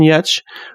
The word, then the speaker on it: Giertz: of Hansel minutes today I'm talking with Simone yet who is calling in from Sweden how are you I'm good Kudos on pronouncing my last name correctly oh well I've